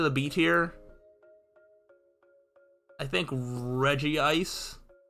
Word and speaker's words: Regice: beat here I think Reggie ice is the worst mostly because it's pronounced Regice which is terrible Regice is so much better um I think ready